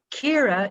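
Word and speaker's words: Ciara: name is kira kira but it's kira is an irish name c i a or a and i think k-e-i-r-a is an anglicization of an irish name and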